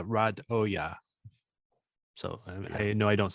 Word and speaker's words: Radoja: yeah he did great the pronunciation in the uh announcement is nman rad Oya so I know I